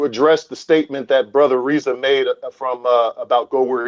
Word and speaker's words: Rizza: But one question I did have for Brother Rizza, really, am I pronouncing that correctly, brother? Brother Rizza. Yes, brother Rizza.